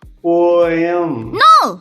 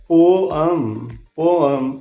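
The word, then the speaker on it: poem: हम क्या कहते हैं? पोएम। नो, ये है पोअम।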